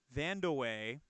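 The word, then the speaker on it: Vandeweghe: 94 team PAC was a backup point guard Vanda way so that's how you pronounce that name was a great shooter for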